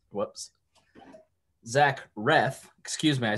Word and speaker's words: Reath: is about my guest is facebook friend zach breth whoops zach reth excuse me i said breath because my my pronunciation here says breath and i i read